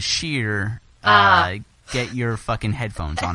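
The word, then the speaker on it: Scheer: It's pronounced differently. It's Schur versus Sheer.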